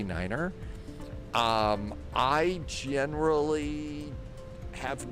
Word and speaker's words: niner: That is a specific pronunciation that you are supposed to use on the radio. Like you would say, you know, for the number nine, you would say niner because nine also means no in German.